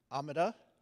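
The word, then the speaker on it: Omata: fiction he's also founded amida I had to do that in my head it it rhymes with speeda as I'm told which is a company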